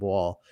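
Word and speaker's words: Wohl: the al all the times they've covered jacob wall w w o hl i believe is how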